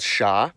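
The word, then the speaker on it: Ш: It's called sha. It's used in every Cyrillic script language, and as you can guess, it sounds like sh.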